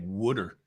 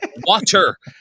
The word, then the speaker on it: water: And then you start hearing yourself saying things like "wooder." It's not water. Water. Radio, 25 plus years, I learned how to pronounce water.